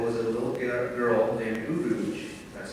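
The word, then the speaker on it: Urooj: The main character in this hypothetical was a little girl named Rouge, that's spelled U-R-O-O-J.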